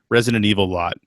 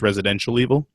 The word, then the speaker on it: Resident Evil: used to get people mispronouncing Resident Evil a lot. And the one I always heard was Residential Evil.